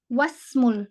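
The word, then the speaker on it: وَاسْمُ: eh eh Masyaallah wasmu wasmu ini konsep e konsep hamsatul was Ya hamsatul was bahwa ketika dia di tengah ketika dia di tengah-tengah sebuah kalimat maka itu dia tidak dibaca maka dia kita tidak membacanya ya kita tidak membacanya tapi langsung ngejam ngejam ke ke kata yang kata kata yang EE memiliki harakat berikutnya nah kemudian ee nah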